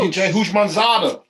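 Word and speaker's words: T. J. Houshmandzadeh: Rudy Johnson and Turaj Hushmanzadeh. Close. TJ Hushmanzadeh. TJ Hushmanzadeh. You were close.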